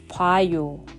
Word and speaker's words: 봐요: Notice that Korean naturally shortens some sounds. 보아요 becomes 봐요. This happens very often in Korean pronunciation.